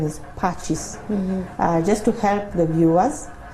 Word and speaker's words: Pacis: the correct pronunciation is patches just to help the viewers if you want to pronounce it well just add an h so that you have it as patches but in terms of